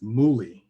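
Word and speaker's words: Mully: The other inspiration is Muli, and that's spelled M-U-L-L-Y. And Muli is actually a Nigerian entrepreneur who was a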